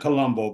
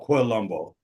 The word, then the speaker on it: Quilombo: They pronounce it differently, but Parody and Quilombo, not Colombo, but Quilombo and San Paulo.